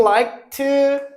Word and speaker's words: liked: Like 발음은 like드가 아니라 like트라고 발음해. If you liked sports 발음 틀려도 괜찮아.